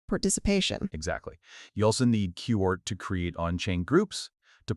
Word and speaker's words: QORT: So powering all this activity, you need the native coin, which is q-o-r- t. QORT thats pronounced like court, yeah.